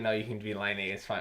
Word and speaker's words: Laine: He just thought like, oh, I better pronounce it like in English way. Yeah. Like the English way, Patrick Lane. Lane. And then I guess everyone's like, no, you can be Laine.